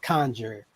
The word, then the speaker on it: CNJR: The first one was called Conjure, but it's spelled CNJR.